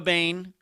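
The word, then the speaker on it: Boehm: bain uh spelled b-o-e-h-m every time i see that name i know mentally i pronounce it wrong but uh then i remind myself no it is not pronounced how it looks joe little joe bain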